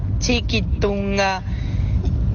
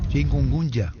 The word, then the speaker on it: chikungunya: ¿Puedes indicarme cómo lo que se pronuncia correctamente el nombre de esta enfermedad? Chikungunya, chiquitunga. De todo ya escuché. Si me puedes ayudar, por favor. Chikungunya.